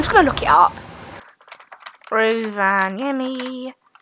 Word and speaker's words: Rovaniemi: in Finnish, it's also Rovaniemi. Well, if the Finnish pronounce it like that, Rovaniemi. Rovaniemi. that's how you pronounce it in Finnish.